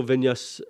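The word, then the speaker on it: Viñas: But you have to go Vinyas and again, I wouldn't know I don't know who he is.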